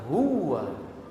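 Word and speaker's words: هو: Lihat cara baca kalimat huwa. Syekh Musa Al-Nasr menyebutkan dalam beberapa qiraah itu dibaca seperti tasdid. Syahidallahu annahu la ilaha illa huwa. Fahim? Jadi baca dengan huwa, bukan la ilaha illa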